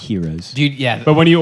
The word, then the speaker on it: gyros: gyros or heroes in It's America. pronounced heroes.